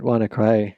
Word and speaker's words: WannaCry: It's not clear exactly what that was supposed to stand for, but want to cry is a reasonable way to pronounce that and reflected the feeling of users who were infected with the worm.